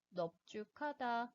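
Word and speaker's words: 넓죽하다: 마찬가지로 동일한 널이라고 하는 어간이 사용되었지만 넙죽하다, 넙둥글다의 경우에는 리을이 아니라 비읍 대표음으로 발음을 하게 됩니다.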